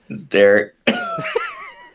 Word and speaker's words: Derrik: It's Derek. So Derek is Name your character Derek. Spelled Derrik. Wow, this is so stupid. Derrik.